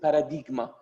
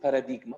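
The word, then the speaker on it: παράδειγμα: close to armenian word as you pronounce it paradigma yes definitely even greeks they call it they pronounce it paradigma by the way paradigm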